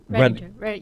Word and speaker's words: Redinger: Redinger. Yeah. Yeah, yes. okay. Yeah, Yeah, okay. Redinger. I always think of Tiger. Redinger, Tiger.